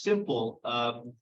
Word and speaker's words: SMPL: It's pronounced simple, skin multi-person linear model.